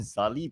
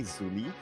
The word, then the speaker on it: Zuli: I personally love uh Zuli some people call him zali but come on it's Zuli by the way it's supposed to be pronounced in the local way Zuli and he used to